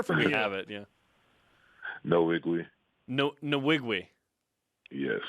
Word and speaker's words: Nwigwe: sure we hear from you have it yeah no iggly note in the wig we yeah okay no wig